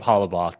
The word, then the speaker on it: Hollabaugh: I'm joined by the challenge historian, Halabau. Almost nailed it. Halaboth. Very, very close.